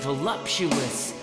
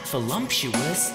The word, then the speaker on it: voluptuous: become super computers girl you be voluptuous not volumptuous if I dump my